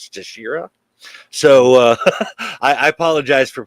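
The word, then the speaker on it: Teixeira: I just kind of looked it up on Google, and they said the Brazilian pronunciation was Texeira.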